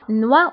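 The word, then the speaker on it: noix: بالنسبه هنا اكس لا ننطقها، دونك نوا هو الجوز نوا.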